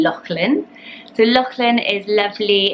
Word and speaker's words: Lachlan: and that's the name Lachlan. So Lachlan is lovely. It's sometimes pronounced Lachlan in the US, but it's a traditional Scottish name, Loch being very famous, like Loch Lomond, meaning lake.